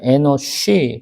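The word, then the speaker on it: אנוש: 우리가 에녹이라고 하는 것이 뭐 발음해 보면 하노크. 그래서 시작된, 창시된이란 뜻이고요. 여기가 에노쉬.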